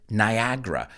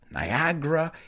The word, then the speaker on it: Niagara: But we pronounce it Niagara. That's second A. There are 3 A's in the word. The second A is basically silent. Niagara.